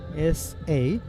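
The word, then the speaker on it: Sazzad: Sajjad, the batter, S-A-J-J-A-D, and the bowler Sajjad, S-A-Z-Z-A-D. But the pronunciation, that might be the same.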